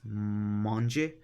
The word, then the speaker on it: Monge: in the British English language we call it mangy or munch alright so now that we know